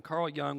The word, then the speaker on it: Jung: See, Carl Jung was it's spelled Jung, but it's pronounced Young. Carl Jung was a leader with psychotherapy and a contemporary of Freud.